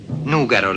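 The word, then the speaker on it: Nùgoro: Nugaro la chiamavano nel Medioevo, e ancora oggi così pronunciano il nome i suoi abitanti, all'antica.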